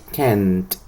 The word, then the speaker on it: can't: Entonces, esta primera la va a pronunciar con el sonido de T al final. Es decir, va a decir can't.